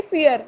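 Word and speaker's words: vier: Then in German we are having V pronunciation as f. जहाँ भी V word आता है ना, V letter, वहाँ पे f की sound आती है. Yes. तो इसकी sound निकलेगी fear, जो हम इंग्लिश में बोलते हैं डर.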